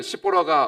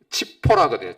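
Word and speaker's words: צִפֹּרָה: 잭째거리던 시보라가 없으니 갑자기 온 세상이 조용해졌습니다. 정막감이 됩니다. 이보라 시보라 원래 발음이 치포라거든요.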